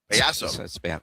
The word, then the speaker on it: payaso: Well, it's not spelled pie. It's spelled pay. I'm just saying. That's where I got confused. It's payaso.